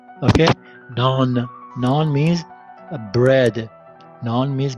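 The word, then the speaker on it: نان: We have the n or nun, pronounced n, n, n, and then we have n, a, n. Okay, non.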